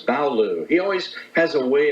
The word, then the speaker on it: Ballough: French name b-a-l-l-o-u and in England after 1066 they added the GH which is silent uh very good is